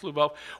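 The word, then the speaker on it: Львов: And Lviv, in Russia, is pronounced Lvov, will be the new capital of Ukraine.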